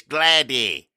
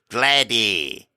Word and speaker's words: Glady: It's not. It's Glady. It's spelled the same as Glade.